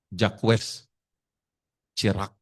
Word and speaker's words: Jacques Chirac: Jacques Chirac bacanya.